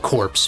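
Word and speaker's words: Retro Game Corps: rely on for um it's spelled corpse but you know like core like the military thing but Retro Game core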